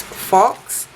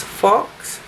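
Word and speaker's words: Faux: satin and it's called I think you pronounce that as Fox f a u x and it looks like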